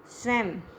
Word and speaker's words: स्वयं: जैसे स्वयं, ये जो स्वयं है, ये म जो है आधा म की यहाँ पे आ जाएगा।